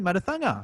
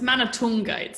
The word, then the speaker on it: Manathunga: me introduce the one and only miss mother thunder how are you i'm really well jono how are you yes i am amazing did i get that pronunciation right you're very close it's man of toongate sri lincoln okay yes it was a tricky